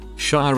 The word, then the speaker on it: shire: Shire as in Hertfordshire is pronounced shire, not shire.